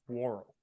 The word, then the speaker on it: Worrell: They Most all prominently call the him Mayday. Ernest Worrell. Worrell. And I'm like, it's Worrell. It's not that hard to say.